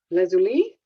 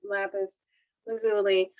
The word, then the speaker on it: lapis lazuli: talk to you about lapis lazuli um some people pronounce it lazuli if you want to make it sound a little more french um i know it is lapis lazuli and i'm going to